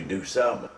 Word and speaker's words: DuSable: Jean-Baptiste Pointe de Sable, later, because people called it disabled, changed the pronunciation to DuSable.